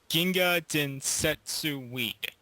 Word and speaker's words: Ginga Densetsu Weed: is our review on um forgive me I pronounced this wrong Ginga densetsu weed is that correct uh yes oh thank God